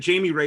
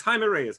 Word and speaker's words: Jaime Reyes: yeah because somebody said jamie ray is on this other youtube thing you know i'm like no it's hymen he's mexican bro pronounce it correctly it's felipe not philippe it's jaime reyes it's a field day